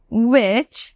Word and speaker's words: which: সেগুলো হচ্ছে why, how, which and whose। Already pronunciation শিখিয়ে দিয়েছি, আরেকবার বলে দিচ্ছি why, how, which, whose। ওকে, এই যে মাঝখানে দুটো why and which এ কিন্তু h এর উচ্চারণ হচ্ছে না, ঠিক আছে?